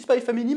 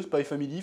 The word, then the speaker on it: Spy x Family: Je dis Spy Family maintenant, parce qu'apparemment on ne prononce pas le X. Voilà, j'ai cédé à la pression. En plus, ça sonne mieux, Spy Family, finalement.